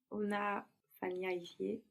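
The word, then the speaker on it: unafanyaje: Where does the accent go in Swahili words? The stress. Second last. The second last syllable, no? So when you put that je on the end of unafanya, well, the accent will move.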